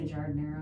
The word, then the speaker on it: giardiniera: How do you say it? I say giardiniera. Giardiniera. Some people say giardiniera.